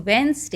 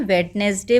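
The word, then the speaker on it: Wednesday: इस जो वेंसडे, इसको बोलते हैं वेडनेसडे बोलते हैं बच्चे, जबकि ये वेडनेसडे नहीं बोला जाता है, इसको हम बोलते हैं वेंसडे, वेंसडे। ठीक है, आपका डी यहाँ पर साइलेंट हो गया, वेंसडे।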